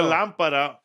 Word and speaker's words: lámpara: And there's the lámparo. It's la lámpara, or it could be a lámpara. La lámpara, because that's the way you speak.